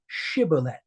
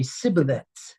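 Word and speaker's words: shibboleth: if you were Benjamite would pronounce it incorrectly and say cibillet. It's where the sheen and the sheen is pronounced as an s or is pronounced as a sh.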